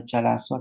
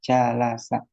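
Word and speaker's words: جَلَسَ: Dibaca jalasu atau jalasi. Enggak bisa. selalu dibaca jalasa. Jalasa karena fi'il madhi mabni.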